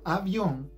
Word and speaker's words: avión: El acento de la palabra avión está en on.